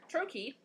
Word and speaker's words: trochee: sort of the inverse of an item two syllables the first ones dressed the second one unstressed actually the word trokey is a trochee that's useful now there are